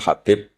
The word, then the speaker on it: Habib: Ada yang nulis Abi Abdurrahman Habib Asulami. Itu di harakatnya kitab itu ada yang nulis tub. Tapi yang benar Oh, nggih. Yang benar itu bacanya habib.